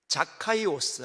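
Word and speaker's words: Ζακχαῖος: 뜯어보도록 하겠습니다 이름은 오 원래 원문은이 발음입니다 헬라 보죠 카이오스 한번 따라 읽어볼까요 카이오스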